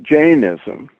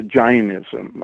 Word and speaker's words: Jainism: ism I always well you can pronounce it either way original Sanskrit word is China but then in India that becomes either John or Jane Oh depending on which part of India you're in okay so that is